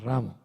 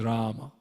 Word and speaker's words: Rama: are spoiling the movement the correct pronunciation is rama not ram either not ram not ramu this is rama rama the first day is longer anyway this is a